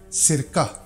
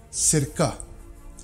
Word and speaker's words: cirka: If it appears in the beginning of Norwegian word before e and a vowel, then it is pronounced like s, as in cirka, cirka.